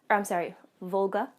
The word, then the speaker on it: Volga: So I got her Tega on the Wolk base, Volga. I always read it and pronounce it wrong.